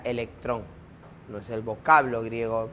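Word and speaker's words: ἤλεκτρον: la piedra no a este ámbar en griego se pronuncia electrón no es el vocablo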